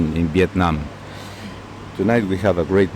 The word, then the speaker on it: Viet Nam: and of course of course viet nam i pronounce it once more viet nam now vietnam who is a back and right